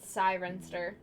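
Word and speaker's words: Cirencester: Being from West London, I would pronounce it Sirenster.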